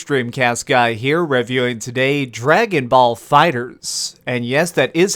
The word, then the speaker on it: Dragon Ball FighterZ: what's up gamers streamcast guy here reviewing today Dragonball Fighters and yes that is how it's pronounced I looked it up have you ever